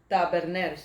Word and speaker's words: Taberner: Is that how you pronounce that? Taberner? Taberner, yeah.